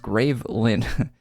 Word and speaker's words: Graveland: A year or so ago, we finished a comic book for Adventure Quest Worlds called Graveland, pronounced Gravelin.